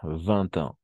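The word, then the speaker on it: vingt ans: 20 ans. Con la T. 20 ans. Sí, no se ve porque está escrito en numeral, pero al escribirlo y al pronunciarlo, pues ahí vemos que hay la T.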